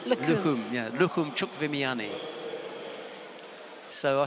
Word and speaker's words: Lukhumi: And I learnt last night from our stadium announcer, Georgie, who happens to be Georgian, yes, that you don't pronounce the I in Lukhumi. Just right. Lukhum. Lukhum, yeah, Lukhum Chukvimiani.